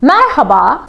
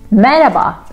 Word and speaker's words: Merhaba: for example of course this is the right pronunciation I wish everybody talk like that like Marhaba Marhaba but we don't we say maraba not no such a thing as silent h in Turkish there is no silent letter every letter has a specific pronunciation but this is not the reality out there in the streets we don't read the H here okay letter H not